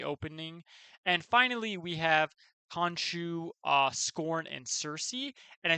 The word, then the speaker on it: Khonshu: I think I pronounced that like 12 different ways, but it is Khonshu.